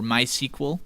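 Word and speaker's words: MySQL: M letter which stands for my SQL or my sequel as it's pronounced my sequel is a freely available open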